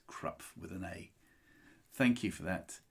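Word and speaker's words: Krapf: had a German lesson in my life it's pronounced crup yes I'm glad that my German friends were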